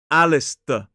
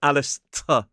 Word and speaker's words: Alistair: But the thing is, because the S and the T are together, that T sound starts to sound more like a D. So it becomes Alistair, not Alistair. Although you will hear some